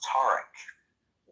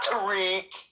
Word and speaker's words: Tarek: For those that don't know how to pronounce, it's pronounced Tarek. Not Tariq. But he's too polite. It's Tarek.